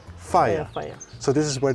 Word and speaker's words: Faia: Here you have the Faya, how do you pronounce it? Faya. Faya.